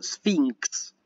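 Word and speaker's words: σφίγξ: Siempre, o sea que gamma xi, acá tienen gamma xi, que se pronuncia NX, ¿sí? Por eso yo digo sphinx, ¿sí?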